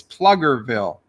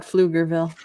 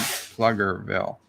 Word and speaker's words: Pflugerville: bills as hi guys oh is it it's plugger Ville I forgetting which one is silent I would have to do he said it's a hard piece o plugger Ville what would you pronounce it as I would have thought Pflugerville yeah that's when I thought but it's flood plugger bill apparently welcome plugger bill Wesley